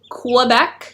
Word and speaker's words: Quebec: Quebec, Q-U-E-B-E-C, but for Canadians it's Quebec, like K-E-B-E-K, Quebec. That's how we pronounce it.